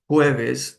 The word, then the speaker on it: jueves: The weekdays would be Monday, lunes, martes, Tuesday, miércoles, Wednesday, jueves. The J is pronounced like an H, and viernes, Friday.